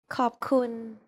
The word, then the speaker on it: ขอบคุณ: ขอบคุณ In the next lesson, we're going to demystify Thai pronunciation by taking a look at the sounds of Thai.